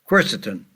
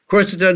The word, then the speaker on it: quercetin: one way is to use quercetin.